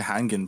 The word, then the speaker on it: Hangin: We haven't seen Hangin play.